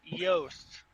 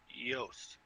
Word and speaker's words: Yost: It's Yost. All right. There's no U. There's no E. There's no J. There's different ways to pronounce it, but it's definitely just the way it's spelled. Yost.